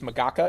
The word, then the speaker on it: MAGACA: make government cool again, which is MAGACA, if you pronounce it out loud. MAGACA.